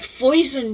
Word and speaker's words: foison: It rhymes with poison, but foison means abundance, and I think spring is a season of abundance.